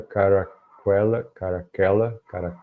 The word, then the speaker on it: Caracalla: This is so under this is so under caracalla. It is so under commodus. Como é latim, então acho que eu vou pronunciar em latim mesmo.